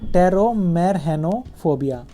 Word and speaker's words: टेरोमेरहेनोफोबिया: अब देखते हैं फियर ऑफ फ्लाइंग, उसको बोलते हैं टेरोमेरहेनोफोबिया। इसमें पी साइलेंट है, तो जिनको प्लेन में बैठने से डर लगता है उसको बोलते हैं टेरोमेरहेनोफोबिया।